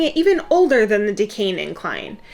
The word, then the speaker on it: Duquesne: trick has been to think of the actor dean cain and just say his name really fast decaying that's how you say